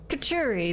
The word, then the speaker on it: couturier: I've already forgotten how to pronounce this word. Let's... Couturier, there we go.